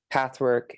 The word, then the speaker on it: PTHWRK: As you mentioned, I have a website called Pathwork. It's spelled PTHWRK.